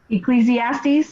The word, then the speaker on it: Ecclesiastes: Ecclesiastes.